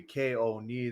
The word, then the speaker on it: Keoni: My Twitter and everything else will be Keoni. That would be KAYOHKNEE. Exactly how you pronounce the name.